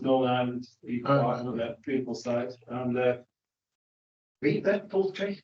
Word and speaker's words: Belvoir Park: Yeah, woodland management plans, Doncaster, Belvoir Park, Beaver Park, it's actually pronounced, Northern Ireland, Beaver Park, another beautiful site.